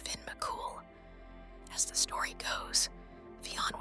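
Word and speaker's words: Fionn mac Cumhaill: be the handiwork of the giant Fon mumal pronounced Finn mul as The Story Goes Fon was challenged to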